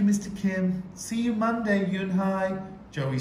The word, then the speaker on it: Eun Hye: Kim then turned to Joey she nodded slowly yes it's pronounced Eun Hye and he means grace mr. Kim added Eun Hye Josie Joey said slowly at this time perfectly